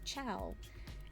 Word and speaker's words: ciao: Like she was like, "It's cha like ka or like cho or something is the way that she was saying it." I'm like, "No, it's ciao."